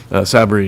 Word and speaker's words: Sabri: to see that Khalid Sabri is, I've been always saying it the wrong, I've been putting the emphasis on the wrong syllable up to this point, but Sabri is the new trustee, and we're lucky to have you.